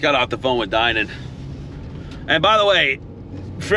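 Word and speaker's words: Dinan: then everybody always tells me, oh no, it's Danan, it's definitely Danan. It's not Danan, it's Dynan.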